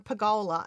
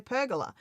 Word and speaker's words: pergola: It's just a difference in pronunciations. And it's like it's like how some people say um pagola and some people say pergola.